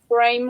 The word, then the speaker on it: Brame: Brame rhymes with fame.